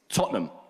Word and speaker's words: Tottenham: I go to bars we say it's taught them that's how you said Tottenham but it's spelt Tottenham right and it's the one